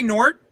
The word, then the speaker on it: Gnort: Oh, Gnort. Gnort! Yeah. Okay, yeah, I say Gnort too. Yeah. What else could you say? Like G-Nort? You could say Nort.